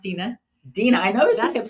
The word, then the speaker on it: Deanna: It's pronounced Dina.